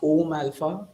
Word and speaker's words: AUM Alpha: The company is pronounced Om Alpha, the cosmic sound and alpha.